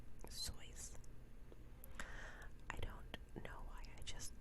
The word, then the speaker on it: Seuss: Susan to you actually I don't know if you knew this but his name is pronounced choice I don't know I